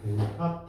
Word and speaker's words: 델타: 자, 그리고 걸린 시간은 델타 T라고 할게. 읽을 때 앞에 있는 아이를 뭐라고 읽어요? 삼각형. 델타.